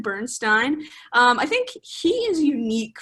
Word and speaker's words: Bernstein: Yeah, so the composer of this show is Leonard Bernstein, whose name I completely mispronounced in the last episode. So apologies for that, but it's Leonard Bernstein.